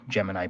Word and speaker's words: Gemini: give a little bit of background so the Gemini program or gemin is the way NASA pronounced it for some reason no one else